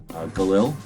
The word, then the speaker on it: Galil: gerund to the united states that same day galil was born he has a different name but we pronounce it galil and of course he was uh instrumental in